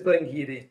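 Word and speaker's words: Glen Garioch: This is a huge talking point in the pronunciation of this one. So it is Glengeary, but some people are Glengeary.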